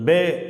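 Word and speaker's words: פא: இந்த எழுத்தை ஐன் அப்படின்னு உச்சரிக்கிறோம். கோடு இல்லாத இடத்துல எழுதுறேன் பாருங்க. லைட்டா ஒரு கோடு கிராஸ் பன் பண்றோம்.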